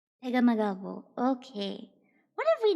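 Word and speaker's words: Pegahmagabow: Oh, he's Ojibwe. Okay. How to pronounce... Pegamagabo. Pegamagabo. Not true? Here, let's listen to this person how to say. Is this accurate? Francis Pegamagabo. Francis Pegamagabo. Okay. Francis Pegamagabo.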